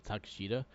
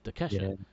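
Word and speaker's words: Takeshita: I always forget and I always call him takash but it's Tesha so I wrote down how to say it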